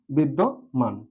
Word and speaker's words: বিদ্যমান: বিদ বিদ আর যেহেতু যেহেতু জ ফলা যুক্ত আছে এজন্য পরবর্তী যে দ টা আসবে এটার সাথে অবশ্যই ওকার যুক্ত হবে বিদ দো বিদ দো মান বিদ্যমান সঠিক উচ্চারণ হলো হচ্ছে বিদ্যমান এবার আমি একটি শব্দ